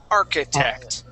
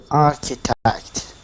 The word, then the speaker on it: architect: pronounced like a CH it's pronounced like a k arc architect architect okay now um Sab